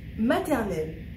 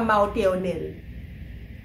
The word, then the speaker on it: maternelle: Donc nous disons maternelle et non pas maternelle.